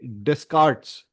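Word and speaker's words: Descartes: I think it is Renee Descarts. It is written as d e s c a r ts.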